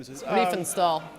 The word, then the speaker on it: Riefenstahl: I can't pronounce the last name. Riefenstahl. Riefenstahl, thank you.